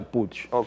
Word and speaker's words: Puig: dó nos encontremos verdad es un apellido Catalán y en catalán se pronuncia puch y la palabra p significa monte mm sima montaña eh pero eh todo el mundo aquí dice puy Entonces está bien si